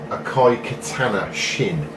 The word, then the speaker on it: Akai Katana Shin: game, and I think it's pronounced like this, Akai Katana Shin.